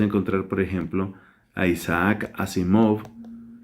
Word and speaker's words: Asimov: por ejemplo a isaac asimov que también se pronuncia así móvil qué es un escritor